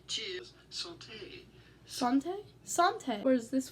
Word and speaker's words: santé: I've got an audio pronunciation here. Bonjour. You're looking at how to say cheers. Santé.